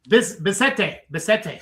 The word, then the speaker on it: Bissette: Say it. Bissette. Yeah, it gets pronounced several different ways. Yeah. He's French, and it's Bissette.